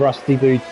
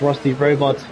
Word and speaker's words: Rusty Robot: It's F1 Rusty Boot. He's not doing too bad. Oh, sorry, I pronounced his name wrong. It's Rusty Robot.